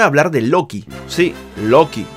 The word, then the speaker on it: Loki: Sí, Loki, no Rocky, como lo llamaron en el doblaje. Pasa que los japoneses pronuncian Doki, y los encargados del doblaje pensaron que era Rocky.